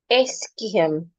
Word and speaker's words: ischium: Eskiem. You're stressing the first syllable. So you go eskiem.